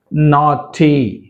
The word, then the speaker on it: naughty: Naughty, naughty, caught, caught, brought, brought, bought, bought, night, night, taught, haughty, right? In these all the words, GH letter is silent.